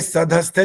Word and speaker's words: सधस्थे: आगे सधस्थे तो क्लियर हो जाएगा, स पूरा आगे ना, सधस्थे जी। और अस्मिन, ये जो स